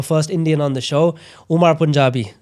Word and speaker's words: Umar Punjabi: I'm joined by someone from India, our first Indian on the show, Umar Punjabi. Did I say it correctly? Yeah, you did actually.